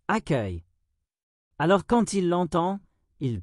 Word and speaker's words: accueil: Par exemple, un élève connaît le mot accueil, mais ne sait pas qu'il se prononce accueil.